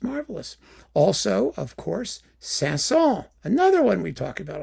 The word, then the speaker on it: Saint-Saëns: Some of you were screaming at me and I didn't even ban you forever for saying I should pronounce the S at the end. Sasson.